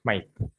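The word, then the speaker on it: Smyth: One is Smith, another one is Smith with the letter Y. Okay, both are sound similar only. But Smith, like that we can pronounce. Okay, S-M-Y-T-H, Smith.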